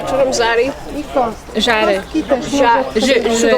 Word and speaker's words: Żary: How do you pronounce the Z from Zari? Żary.